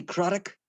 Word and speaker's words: Craddock: Miller, Stephen Everson, Jody Craddock, rhymes with Haddock, Mark Kennedy, Nathan Blake,